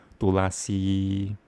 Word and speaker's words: Tulasi: That's Tulsi is the English translation, English pronunciation of the actual word Tulasi.